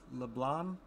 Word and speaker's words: LeBlanc: I don't pronounce the C in LeBlanc. So are you not supposed to pronounce it? Is it? So it's LeBlanc? No C?